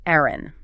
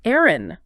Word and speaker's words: eyren: In the south of England, the word for eggs was Eyren.